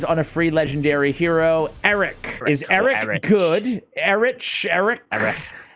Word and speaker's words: Errich: I was to say like a Welsh person it would be Eric okay that's horrible to say on a microphone so Eric is what is what we're gonna go with I'll say it like American Eric there we go so